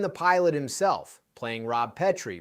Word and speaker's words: Petrie: He starred in the pilot himself, playing Rob Petrie, pronounced Pete Ree, and filmed it as a single-camera show in New York with no live audience.